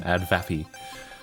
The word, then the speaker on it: advapi: Again, I pronounce it as it's written, AdVapi.